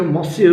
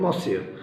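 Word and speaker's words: monsieur: जैसे हमारे वहाँ फ्रेंच में M जैसे मिस्टर के लिए भी होता है और उसे मॉसियर भी कहते हैं, एन साइलेंट होता है मॉसियर।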